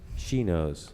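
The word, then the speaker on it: chinos: two okay please spell Chino's also apparently pronounced she knows although I've never heard that we'll go with she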